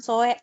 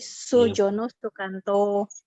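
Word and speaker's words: Soerjono Soekanto: Yang kedua juga pembacaannya itu ejaannya ejaan lama ya, Galang. Bukan Soe, tapi Sujono Sukanto. Jadi SOE itu Su dibacanya, sayang.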